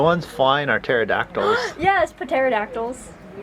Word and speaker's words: pterodactyls: Yes, pterodactyls. I think the P is silent.